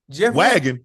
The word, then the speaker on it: Wagyu: how you spell it how you spell it y a u w okay W okay w w a u wag w a Yu okay oh so the Y silent yeah but you gotta say it okay wagy Waggy you